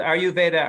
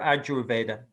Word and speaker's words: Ayurveda: coming in someone says do you pronounce it are you veda or ajurveda well i've only ever heard it pronounced are you veda but who knows maybe is a different